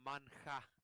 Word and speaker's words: manhwa: H is silent, so it's it's manhwa. Yeah, but it's written manhwa, right? Manhwa. Oh, manhwa. Okay, manhwa. Yeah, but it's pronounced manhwa.